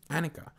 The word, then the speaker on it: Annika: It is Anike. Anike. Hi. Yes. Am I saying it right? Yes, it's Annika.